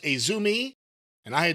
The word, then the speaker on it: AZM: We've seen her name before, AZM, but apparently it's pronounced Azumi, and I had not seen her wrestle AZM before.